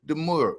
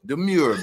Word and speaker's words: demure: Don't pick on my background, but it's lively and we looking very deure. Demure back here. How we pronounce it? De Mure.